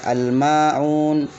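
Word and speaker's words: الماعون: jadilah mini alhamim al-qamariyah yang asalnya itu alif lam bertemu dengan mim ya bertemu dengan mim maka dia jadi al-qamariyah maka dibacanya al-maun al-ma'un al-ma'un al-ma'un Hai Nah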